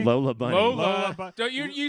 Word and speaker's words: Lola Bunny: Lula Bunny? Lola Bunny. Lola Don't you said her name wrong to try to be like you're not Oh, obsessed.